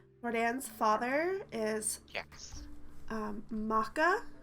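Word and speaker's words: M'aka: father is yes um Maca spelled m apostrophe AKA maca um did was there indic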